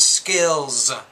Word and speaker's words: skills: Or if you say the word skills, you have to pronounce that Z at the end.